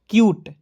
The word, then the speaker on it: cute: आपको याद रखना दोस्तों, किसी भी वर्ड्स के अंतिम में UTE आएगा, उसका उच्चारण दोस्तों यूट के रूप में करेंगे। किसके रूप में? यूट के रूप में। तो देखिए CUTE को क्या पढ़ेंगे? क्यूट, ठीक है?